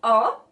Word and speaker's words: ho: It's spelled with an H, but the H is completely silent in Italian all the time, so that's a general rule, right? One of the very few rules that persist and it's consistent throughout the language. So even though you see it with an H, there's not pronunciation of an H. There's not aspiration of any kind of sound.